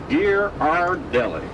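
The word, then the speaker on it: Ghirardelli: The name is pronounced Gear R Deli.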